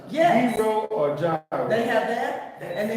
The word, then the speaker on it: gyro: it pronounce hero or Gyro they have that and they have the little you know when you're in the Middle East it's yearo yearo but a process yeah